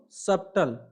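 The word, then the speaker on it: subtle: उसको क्या बोलेंगे है जैसे सु बी टी ल आई इसको सबतल लेकिन बिना साइलेंट का जो गलत है साइलेंट अगर हम साइलेंट लेटर का उसे करते हैं मतलब साइलेंट किसको करना है बी को साइलेंट कर देना हमको बी को साइलेंट कर देना है और पढ़ना सब ताल के जगह पे क्या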